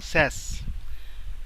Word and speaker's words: Sass: সাস কিন্তু উচ্চারণ আসলে সাস না, স্যাস।